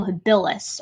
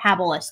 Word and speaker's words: habilis: australopithecus sediba and homo habilis or habilis depending on if you're pronouncing it right or if you're me right um but yes i